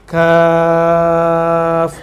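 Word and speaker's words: كاف: Jadi huruf-huruf muqatta'ah ini jika dia tidak ada harokatnya, kan dia tidak ada harokatnya, terus dibaca misalnya kaf, maka dibacanya mad 3 alif. Kaf.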